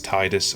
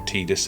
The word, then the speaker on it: Tidus: You start the game as Tidus, or Tidus, however you want to pronounce it.